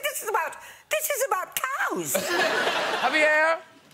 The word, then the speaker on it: Javier: Javier! Pronounced correctly?